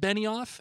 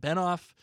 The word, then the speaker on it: Benioff: I was saying it as though it was David Benoff. And as you know, I am a stickler for pronunciation You are. and making sure getting names are right. You are. I've heard both pronunciations, so I was like, I'm just going to pick one. So I went Okay. with Benoff, but it's actually Benioff.